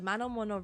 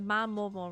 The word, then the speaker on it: Mamono: Imp Fiend Habitat, the Manomono realm. The Mamono. I keep saying it wrong. The Mamono realm.